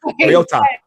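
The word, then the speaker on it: Mariota: Marota Marota is he might play, he might not.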